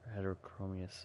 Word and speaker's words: heterochromous: those who step within its bounds with her heterochromous eyes.